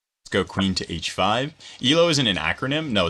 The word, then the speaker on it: Elo: pull their weight is Elo pronounced EO or EO I think the latter I'm pretty sure it's pronounced ELO not yellow I've never heard someone call it yellow actually I think I've